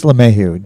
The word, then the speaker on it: LeMahieu: Oh, that's LeMahieu, Denny LeMahieu from Rockies.